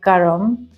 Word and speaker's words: karma: is karma or Karma as we actually call it in Hindi that's how it's pronounced correctly Karma but because I'm